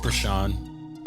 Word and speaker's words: Breshaun: Breshaun. Okay. Yeah. But it's spelled BRSN.